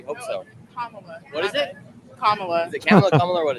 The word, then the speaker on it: Kamala: Kamala. Kamala. And you think she'll win actually today? You did say it wrong cuz Kamla Harris pronounces her name Kamla.